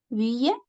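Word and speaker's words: ville: Villa. V. Sí. Esta es una excepción a esa regla de la I. W l suena I. Sí. Lo pronunciamos como v i l nada más. Vil.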